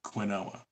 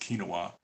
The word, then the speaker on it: quinoa: which some of you might know it as quinoa right it's actually pronounced quinoa and there's some debate as to whether quinoa